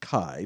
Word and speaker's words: Xi: be the she variant technically pronounced kai by greek but embarrassingly x-i for everyone in print and so they decided